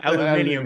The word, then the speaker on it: aluminium: This is before aluminum. This right? is before aluminium. Aluminium is the British say.